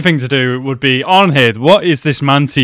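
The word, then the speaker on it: Arnheid: Now that I'm hearing it, the D in Arnhild is pronounced like a Z as well.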